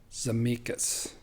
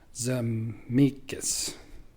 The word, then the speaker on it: Zemeckis: The director is Robert Zemeckis. I think I just mispronounced that. Zemeckis.